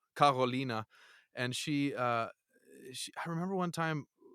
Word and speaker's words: Carolina: quirky German girl there named Caroline or Carolina, as it would be said in German, Carolina.